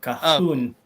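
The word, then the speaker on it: Cajón: Yeah, it's Spanish, so Cajon. Cajon? Like cajones.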